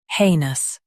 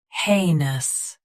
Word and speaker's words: heinous: shown on the screen, heinous. Both US and UK have the same pronunciation of this word. Stress hey. Keep nus soft and quick. Heinous. Heinous. Stress hey. Keep nus soft and quick.